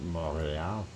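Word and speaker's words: Montréal: Lawrence Seaway here, Montreal coming in at about 12, and yeah, that's how you say it in French, right? Montreal.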